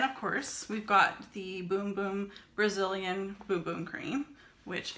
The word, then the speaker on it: Bum Bum: It smells like the Boom Boom cream. And I know it's spelled bum bum, but it's actually boom boom, just so you know.